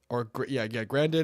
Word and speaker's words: Grandin: Or Grandin, Grandin and Elsinore.